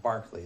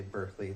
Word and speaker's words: Berkeley: I don't want to get into why like they say Berkeley now, but it's actually Berkeley. He's European philosopher. So he's but anyway, it's so Berkeley, spelled like Berkeley, is this philosopher and